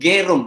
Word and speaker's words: Gerung: Bacanya orang Jawa katanya Bung Rocky bacanya Gerung, padahal yang benar tuh Gerung ya Bung Rocky ya.